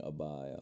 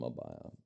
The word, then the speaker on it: abaya: Is that a blossom abaya? Am I saying it right? Abaya? Abaya. Yeah, looks like I'm right.